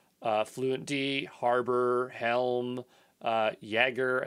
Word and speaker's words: Jaeger: fluentd harbor helm uh jaeger i think it's pronounced jagger like the j's the y uh kubernetes linker d